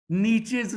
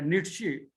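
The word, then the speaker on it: Nietzsche: That is ascribe to नीचेज sister, यानी जो German philosopher है नीट्शे, उर्दू में कहते हैं और इंग्लिश में हम उसको नीचे प्रोनाउंस करते हैं।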